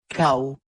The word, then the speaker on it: cal: Cau. Irregular form, the absence of a final syllable erodes the radical. L is rather pronounced how.